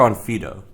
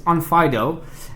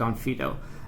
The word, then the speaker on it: Onfido: I've heard this both ways how do you pronounce onfo is it onfo or on Fido all right good question it's it's onfido and and the way it's written in in